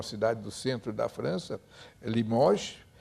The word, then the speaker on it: Limoges: do centro da França, Limoges, escreve-se Limoges, com essa, mas não se pronuncia essa.